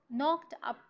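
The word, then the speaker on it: knock: नॉक एट the door नॉक a basically तो नॉक की spelling के से शुरू होती है लेकिन के को हम क्या करते हैं इग्नोर करते हैं या इसको हम साइलेंट कर देते हैं अच्छा तो यह तो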